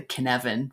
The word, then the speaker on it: Cynefin: use in my leadership development training called the Cynefin framework. And that's spelled, it's a Welsh word, what is it?